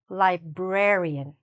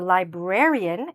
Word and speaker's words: librarian: So, where is the stress, here? I'll say it, you think about it, "librarian". Okay? Yes, it's here.